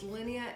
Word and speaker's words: Linnea: And one is, I call it Linnea. They probably pronounce it differently in France, but it's Linnea in Monet's Garden.